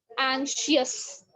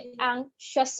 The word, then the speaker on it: anxious: अच्छा, तो क्या बता रही थी, एंशियस, ठीक है, तो ANXIOUS लोग इसको पढ़ते हैं एंशियस, जबकि एंशियस नहीं होता, ये एंशियस होता है, ठीक हो गया।